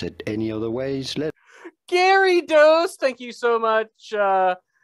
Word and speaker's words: Gyarados: official pronunciation is as gary does somewhat like gary and dos gary those gary facts